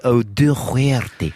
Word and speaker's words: O'Doherty: we've been joined by O'Doherty. That's how you pronounce it. That is the most perfect pronunciation I've ever heard.